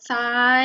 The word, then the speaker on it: ทราย: ทราบ อ่าน ว่า ทราบ มี ทราย อ่าน ว่า ทราย อีก ซัก อ่าน ว่า ซับ พุทรา อ่าน ว่า